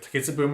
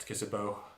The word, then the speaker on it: Takitsubo: Yeah, we also get Amazura fleshing out his relationship with Takitsubu more. Did I pronounce it right this time? Takitsubu? Yes. Not Takitsubo.